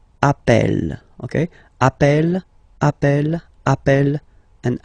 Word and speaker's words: appelle: You tend to pronounce it like really open. That's the reason why you pronounce it appel, appel.